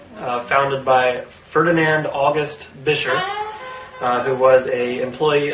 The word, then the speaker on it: Buescher: you a 1929 bisher trone and yes it's pronounced bisher not bisher not berer not Basher not buer as I've heard it said but actually bisher and I know this because there's actually old